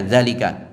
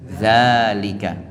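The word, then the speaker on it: ذٰلِكَ: didapati ditulisanalika itu pendek dalika gak boleh dibaca dalalika tetapi dalika sama dengan hadza ini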